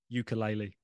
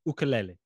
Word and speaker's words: ukulele: teach ukulele which is the correct way to pronounce yes I'll be honest my brain wants to say ukulele in that really awful kind of tone ukulele but it's not it's ukulele and it's not you know honestly it's not